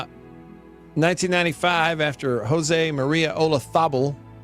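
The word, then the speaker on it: Olazábal: Uh 1995 after Joseé Maria Olathabel spelled with a Z and always feels weird to pronounce it that but it's Olathabel he had paella.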